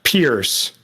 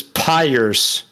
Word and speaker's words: pierce: Well, he consistently, from my perspective, mispronounced Pierce. Oh, I didn't catch that one. Yes. I don't know if it's a regionalism, but he says Pyres.